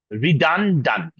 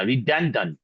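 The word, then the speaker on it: redundant: that ডান ঠিক আছে বাট এই উচ্চারণটা খুবই ছোট করে হবে নট ই এর মত করে হবে না ঠিক আছে রিডান ডান্ড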